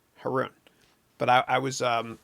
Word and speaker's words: Haroun: properly which nobody does it's pronounced heroin herun but I I was